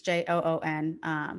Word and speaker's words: Joon: I hope I'm pronouncing his name right. It's Joon.